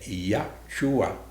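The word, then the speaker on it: ישוע: os nomes têm significados o nome jesus é ia chuá e chuá a pronúncia na do hebraico mais significa deus ia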